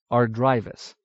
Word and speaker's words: Ardrivis: When this syllable has an I, it is sounded long, capital ARDRIVIS, Ardrivis, unless it comes before a double consonant, capital ANTIPPA, Antippa.